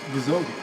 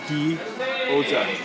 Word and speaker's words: Gyoza: Gyoza. Guzogi. Guzoga. Guzogi? Gyoza.